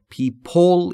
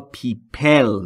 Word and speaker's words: people: پیپل مردم یا افراد در مورد تلفظ پیپل دقت بفرمایید پی ال در قسمت آخر پیپل کاملاً بی صداست و صدایی بینشون وجود نداره بسیاری از زبانآموزا دیده میشه یا شنیده میشه که پیپلول یا پیپل میگن و این تلفظ اشتباهه پیپل پیپل پیپ در